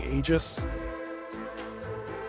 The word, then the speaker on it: Aegis: Again, I'm not a It's a Greek word, so like there's there's very rarely a hard G sound in Greek. It's a not a G, but it's anglicized. So I'm used to people saying Aegis or Aegis instead of Eggies.